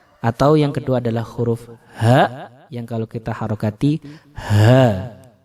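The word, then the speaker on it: ح: yang kedua adalah huruf ha, yang kalau kita harokati ha. Huruf hamzah dan huruf ha ini membacanya harus keluar dari tenggorokan bagian bawah.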